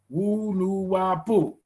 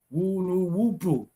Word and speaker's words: Wu-Nuwaup: How is it pronounced was the next question. WU-NUWAUP, WU-NUWAUP. Yes, that is very good.